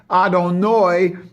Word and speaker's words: Adonai: So the total name is what you read in the prayer books, Yud Hey Vav Hey, and how it's pronounced, Adonai, and that's in the 5 Dinim.